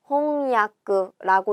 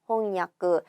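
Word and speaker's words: 翻訳: 홍야크라고 읽어줍니다. 답은 몇 번이죠? 2번이에요. 홍야크. 타금이 들어가지도 않고 야쿠랑 요쿠를 헷갈려서도 안 되는 거죠.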